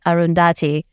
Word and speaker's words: Arundhati: Arundhati.